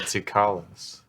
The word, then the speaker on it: Tsoukalos: Is that how you pronounce it? Interesting. Sukalos? I believe Sukalos, it's yeah. Sucrose. Oh, I always said Sukalos.